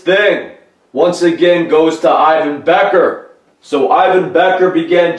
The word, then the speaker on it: Ivan: So Ivan Becker writes, Ivan Becker, pronounced E-Y-E, and he writes that in all capital letters, dash V-A-N, Becker.